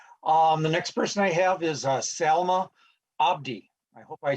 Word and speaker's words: Salma Abdi: You did pronounce my name right. My name is Salma Abdi, and I'm a senior at Century High School in Rochester, Minnesota.